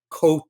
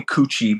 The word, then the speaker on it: Coutu: Thank you to. Yes. I mean, that's the normal way. But people call me coochie because we've pronounced it coochie for for decades and decades.